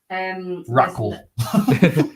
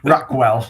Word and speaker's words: Raquel: I can't read that. Raquel. I know how to say her name. Raquel Rodriguez. Raquel. Stop it. Rackwell. Stop it, please.